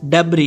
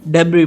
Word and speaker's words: debris: DEBRIS, डेब्री। यहाँ पर S silent है, हम इसको डेब्री पढ़ते हैं, जिसका मतलब है कचरा या फिर मलबा।